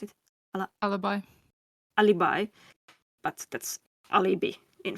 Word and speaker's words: Alibi: How do you pronounce it? Alibi.